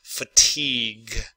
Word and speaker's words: fatigue: Fatigue, fatigue. I think it comes from French. That's why you have the G-U-E. The U-E is silent.